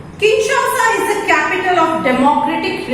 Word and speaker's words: Kinshasa: the southern hemisphere now kinshasa listen to the pronunciation correctly kinshasa is the capital of democratic republic of congo